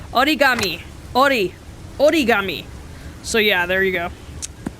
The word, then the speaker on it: origami: way when i said aura gami i mean that's the way americans pronounce it but it's not how you pronounce it in japan so all that talk